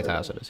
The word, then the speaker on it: Tacitus: Tacitus Yeah, just you can just say Tacitus.